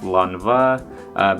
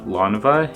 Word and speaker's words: Lanvin: So I know some people pronounce it Lanvin, but when I looked up YouTube videos and how to pronounce it, it's pronounced Lanvin.